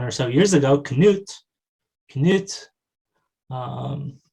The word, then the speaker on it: Knut: they might say knuds kanuts they'll add the schwa before that nasal to break up that cluster of a stop plus a nasal because they don't allow